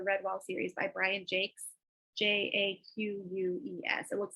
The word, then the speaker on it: Jacques: these are the red wall series by Brian Jakes j-a-q-u-e-s it looks like Jacques but it's pronounced Chase and they're uh it's set like in a